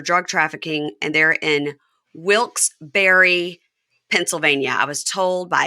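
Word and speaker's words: Wilkes-Barre: trafficking and they're in Wilks Berry Pennsylvania I was told by Amy Archer to make sure to say it right it's wils okay Barry Pennsylvania okay all right all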